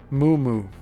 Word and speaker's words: Mummu: In the Sumerian and Babylonian creation accounts, the firmament is personified by the god Mummu, and that's spelled M-U-M-M-U, who is the rising mist between